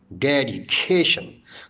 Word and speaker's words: dedication: For example, if I pronounce the word dedication, dedication, there are two stresses in this word. One is de and the second is cation. So according to the number